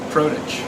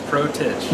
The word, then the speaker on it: Protich: do you pronounce it protege protege okay we're right just like it sounds protege you could go a